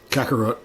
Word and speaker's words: Kakarot: How did you pronounce his carrot name? Kakarot.